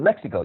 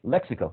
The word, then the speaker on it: lexical: to select one syllable even with the word lexical you have to say lexical not lexical or lexical and so the point